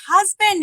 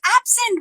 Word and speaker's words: absent: And she said, it's not husband, it's absent. Who told you it's husband?